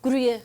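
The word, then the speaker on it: Gruyère: how do you say Gruyere? Gruyere. Gruyere. You have to say it with your lips. Gruyere.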